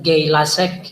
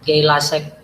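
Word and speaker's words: Gay-Lussac: kelipatan berganda Hai hukum Keyla Sek ya Hai bacanya itu kalau bahasa Inggrisnya pronounciationnya kalau bapak enggak salah ya Keyla seks yang benar Hai terus hipotesis avogadro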